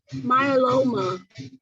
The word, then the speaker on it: myeloma: oh no this one this this word um myeloma perfect yeah so it's Oma and then Milo